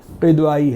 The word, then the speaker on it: قدوائی: گیا قدوائی۔ اور جبکہ اس کو پروناؤنس کرتے ہیں، اس کو کہتے ہیں، اس کا تلفظ جو ہے وہ قدوائی ہے۔ معلوم ہوتا ہے کہ